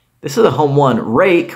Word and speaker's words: Ruike: is a home one rake which I've been told that's how that's pronounced uh they make very